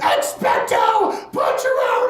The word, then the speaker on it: Expecto: part of this scenario you can't say expect a patronus and just be like yeah expected terms it's always going to be like expecto i thought that was